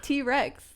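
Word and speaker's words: Twrecks: So I was like, yo, like T-Rex. Like T-Rex. Like, you know? Yeah. Like T-Rex shit up. Like, you know, exactly. Like T-Rex. So then that's why it's spelled like that. It's spelled T-W-R-E-C-K-S.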